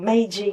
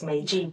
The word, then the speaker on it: Meiji: middle of that, I received an invitation from Meiji University, and I know I pronounced that correctly because I checked with wonderful Naoko. It's Meiji University in Tokyo, and to apply to go